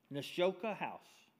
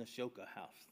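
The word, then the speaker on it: Nashotah House: Nashota House. Mm-hmm. Nashota House.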